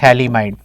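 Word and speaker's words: phthalimide: structure of थलीमा इड pH silent है इसको क्या पढ़ना है थलीमा इड प्रोसेस क्या है कि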